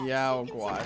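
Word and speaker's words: Yao Guai: Yaogwai, so that's how you pronounce it.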